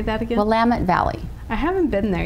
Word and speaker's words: Willamette: i do recommend this wine how do you pronounce that shine out of shine uh-huh willamette valley wait say that again willamette valley i haven't been there yet i have